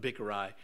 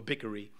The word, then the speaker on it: Bichri: Now, you notice I've been skipping over how many times it's been said Sheba, the son of Bichri, or Bickery. I won't bicker over his pronunciations.